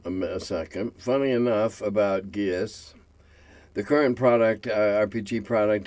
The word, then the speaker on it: geas: while working on it I found out it's actually pronounced G blame the Irish yeah well you know